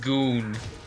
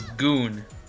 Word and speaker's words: Gon: an expert on this subject and I've ever gone being in Tekken 3 ooh the perfect open peaceably got damn honestly best people in tech Jenner third Dan what it's pronounced goon really I remember being pronounced going the always